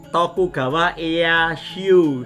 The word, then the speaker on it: Tokugawa Ieyasu: Tokugawa Ieyasu, seperti itu Mas Danu bacanya.